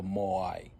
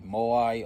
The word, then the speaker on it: Moai: Uh they spell it as m o a i or m o a apostrophe i. So, it can be moai or mo'ai. But, we'll just say moai cuz that's what's familiar with everybody.